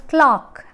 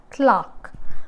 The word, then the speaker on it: clerk: the actual pronunciation is clock clock okay on our world clock so here e and r stands for the vowel ah okay e and r